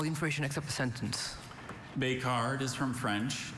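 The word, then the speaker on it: becard: The French sound of that word makes you want to put an E at the end.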